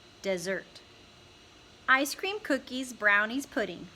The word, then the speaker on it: Desert: She pronounced it desert.